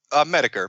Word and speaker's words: Metokur: Metokur, but Metokur, you know, it's meant to be mispronounced. It's a play off mediocre.